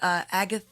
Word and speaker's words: Agat: Yeah, I think one of them is Agath. How do I spell it? It's not. Is it Agath? Agat is the way you pronounce Agat.